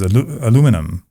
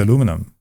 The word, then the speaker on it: aluminum: The second one was aluminium versus aluminum. They said, why do you keep saying aluminium? I said, isn't that how it's spelled?